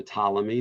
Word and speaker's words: Ptolemy: the ptolemies named after ptolemy the p is not pronounced uh would establish the